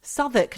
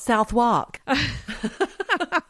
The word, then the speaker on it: Southwark: Southwark, not Southwark.